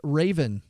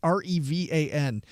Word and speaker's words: Revan: for Star Wars Darth Raven. I think I mispronounced. It's Revan.